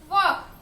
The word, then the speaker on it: walk: The letter L is silent, right?